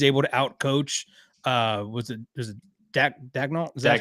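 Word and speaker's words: Daigneault: And if he's able to outcoach, was it Dagnall? Is that how you say his name? Yeah. Dagnall.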